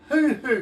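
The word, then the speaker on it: huhu: of germany about the hoo-hoo grub have you ever heard of the hoo-hoo i don't think i am okay well this is spelled h-u-h-u not the hoo-hoos that most americans like uh but you're familiar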